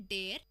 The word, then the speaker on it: der: There मतलब DER और डेयर का मतलब ये नहीं कि DHEIR. It's basically DER.